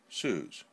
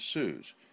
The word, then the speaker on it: Su7e: by this seeming apparition let me call you sues nel commands my name is suze and by the way everybody this is spelled su 7e they use lead names